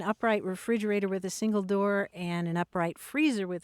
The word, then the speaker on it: doo: English but it's a doo kleen which is a Scots pronunciation of dove doo and clen or clinging which means hatching.